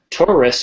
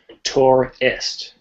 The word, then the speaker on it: Taurus: they are very different terrorist terrorist there's three syllables taurus is two syllables tor est okay all right let's